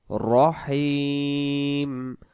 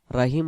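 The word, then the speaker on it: الرحيم: এখানে রহ জবর রহ, রহমানির রহিম, রহিম রাহিম বললে উচ্চারণ ভুল হয়ে যাবে। উচ্চারণটা করব বিসমিল্লাহির রহমানির রহিম, রাহিম হবে না।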